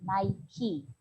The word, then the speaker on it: Nike: nike the name the the name nike came from the greek goddess of victory and is pronounced naiki the goddess was an